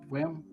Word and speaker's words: Wyrm: And the name of the model is called Asia Cloud Rim, Wyrm, WYRM. However you Oh, pronounce worm. Worm? Is it Worm. It's worm. And it's a dual silk.